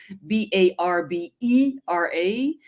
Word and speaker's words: Barbera: E, Barbera, and then Yeah.